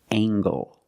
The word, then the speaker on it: angle: compare these two words we have angle spelled l e making the nasal sound and the hard G angle this is a right